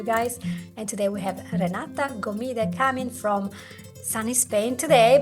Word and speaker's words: Renata Gomide: And today we have Renata Gomide coming from sunny Spain today, but originally from Lithuania. Did I pronounce this correctly?